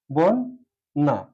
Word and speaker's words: বন্যা: বন। বন না দুটি দন্তন্য ব্যবহার করে বা বন্যা। এভাবে আসছে যে দ্রষ্টব্য একটা শব্দ আছে দ্রষ্টব্য।